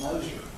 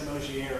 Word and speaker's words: Moer: Usually people think it's French to say Moier or something.